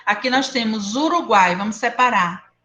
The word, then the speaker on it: Uruguai: Ó, Uá. o U quase não sai.